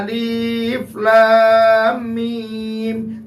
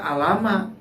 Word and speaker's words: Alif Lam Mim: Ada alif lam mim, tidak dibaca alama.